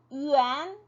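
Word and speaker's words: 元: 그런데 이 yuan, 角 같은 경우는 거의 뉴스나 신문에서만 볼 수 있고요. 네, 상점에 가면 가격 표에는 yuan으로 해서 표기가 되어 있기는 해요.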